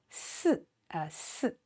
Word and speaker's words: 四: And this 四, notice the pronunciation is S, 四, 星期四.